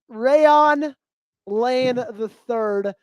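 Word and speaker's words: Rayuan Lane III: It's pronounc It's pronounced Ray Rayon. Rayon Lane III.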